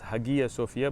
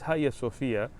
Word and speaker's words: Hagia Sophia: the government of turkey turning the museum at haya sophia into a masjid now haya sophia some people mispronounced as hagia sofia but it's higher sophia let me give you a quick history lesson